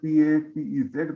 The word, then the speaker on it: Papez: We write it as PAPEZ, but we don't pronounce PZ. Papez circuit.